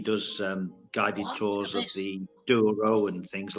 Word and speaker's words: Douro: Douro, not Douro.